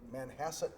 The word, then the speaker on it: Manhasset: from Hofstra North Shore School of Medicine in Manhasset New York did I pronounce that right doctor that's correct all right